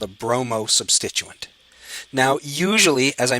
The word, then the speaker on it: bromo: What you do is you drop the INE in bromine, and you add the letter O. So what this actually is a bromo substituent. That's how formally it's supposed to be pronounced.